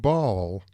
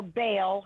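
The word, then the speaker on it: Baal: them yes and actually the word ball or bail a lot of people will say bail because just the inference of pronunciation so people know we're talking about that the fault deity but that also means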